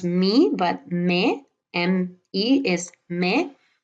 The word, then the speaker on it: me: We have me. This is not pronounced me, but me.